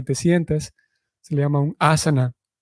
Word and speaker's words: asana: sientes si le llaman a saná a veces se pronuncia a saná pero en realidad de acuerdo con los entendidos en el tema la pronunciación es asana entonces tenemos un viaja